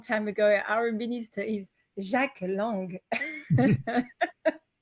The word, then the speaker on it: Jack: Our minister is Jacques Lang. Even though it's spelled as Jack, we call him Jacques.